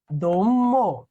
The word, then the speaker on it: অদম্য: এটার উচ্চারণ কি আছে, অদম্য। দেখো তো মটা দুইবার হয়ে গেছে, অতে ওকার হয়েছে না, তার কি মধ্য আদ্য সেম।